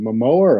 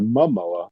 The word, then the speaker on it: Momoa: foreshadowing on the fridge is it Mamoa or Mamoa yeah yeah that's right mwa pronounce it like samwa that was the momento